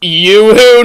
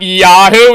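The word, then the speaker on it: Yoo-hoo: drink is actually pronounced you who not yahoo yahoo is a website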